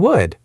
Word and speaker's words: would: Could, should, and would. Loud. Remember, no L sound.